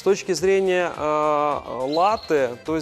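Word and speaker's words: latte: Экспрессо с точки зрения латы то здесь однозначно всё-таки ударение на первый слог - это латы -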